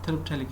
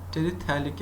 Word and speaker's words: terephthalic: It is also called terephthalic acid, terephthalic acid, TERE, terephthalic acid. This is called phthalic. This phthalic, PH is silent. Okay, terephthalic acid, P is silent, P is silent, PH.